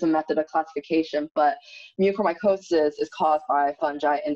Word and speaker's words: mucormycosis: Is that how you pronounce it? Yeah, mucormycosis.